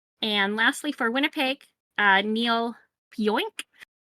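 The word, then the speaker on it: Pionk: And lastly, for Winnipeg, Neil Pioink. Literally how that looks like it's pronounced.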